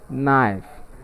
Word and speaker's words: knife: knife and take note in the pronunciation of the word knife the letter k is silent and that's why we